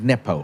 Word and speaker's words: nepo: I must admit, when I read the question, So you pronounce it Nepo, right? Nepo, yeah.